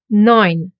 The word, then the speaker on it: Neun: E U. And it gets pronounced as oi.